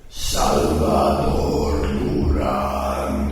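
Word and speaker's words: Salvador Durán: Salvador Duran.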